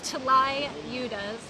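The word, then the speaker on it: tlayudas: that's a pretty difficult one to spell and pronounce it's like t l y u d a s UDA right it's T Li udas anyway this is really just in Waka or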